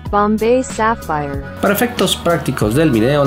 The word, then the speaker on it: Bombay Sapphire: Aunque la señorita de Google dice que se pronuncia Bombay Sapphire.